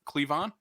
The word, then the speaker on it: Cleavon: not heard his first name pronounced is it clayvon little is that how you pronounce this first cleavon yeah um he is the funniest person in